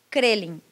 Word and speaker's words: Kreling: Kreling. Com K. K-R-E-L-I-N-G.